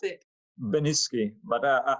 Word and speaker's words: Beniczky: do we pronounce it beniski but i i used to respond to all kind of versions of my surname but correctly it's benitski okay cool cool so